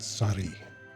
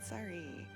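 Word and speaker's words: Saari: become acquainted with you my name is kiran sorry kieran sorry i'll spell that for you last name s double a r i kieran sorry a pleasure to make your acquaintance you seem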